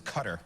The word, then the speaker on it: Qatar: What is cutter? Qatar, yes. Debate rages on how to pronounce that country, but it really is Qatar.